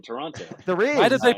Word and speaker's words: Toronto: it's like pronouncing Toronto, because some people who live near it's Toronto. will insist Toronto. there is no second T in Toronto.